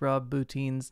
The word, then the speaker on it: Rob Bottin: know how to pronounce Rob Bottin's name. Why is it Bottin? It's spelled Botten. The hell? I don't know. Where is he from? I don't know. Maybe the E is silent.